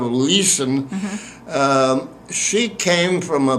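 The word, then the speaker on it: Lüssen: It's pronounced sort of Leeson.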